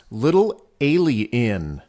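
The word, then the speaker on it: Little A'Le'Inn: renowned little alien inn which is actually pronounced little alien the entire route is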